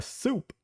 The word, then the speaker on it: Supe: Soup actually isn't spelled Soup. It's Supe, and they used to call him Super.